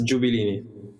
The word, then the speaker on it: Gabellini: So that's Gabellini.